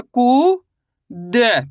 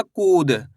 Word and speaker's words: कूद: तो मिलके बन जाएगा कूद। कैसे पढ़ेंगे? कूद। आई समझ में? आपको इस तरीके से नहीं पढ़ना। कूद। अगर आप कुद पढ़ दोगे तो यहां पे छोटू उ की मात्रा का उच्चारण हो जाएगा।